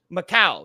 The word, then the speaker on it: Macau: I don't know how to pronounce it. It's UFC Macau. Oh, is it Macau? Macau, yes.